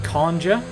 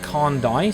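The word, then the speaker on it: Carndye: Low key, I know what you mean, because my music production alias, which is I pronounce it Kandja. Most people pronounce it Kandai, C-A-R-N-D-Y-E.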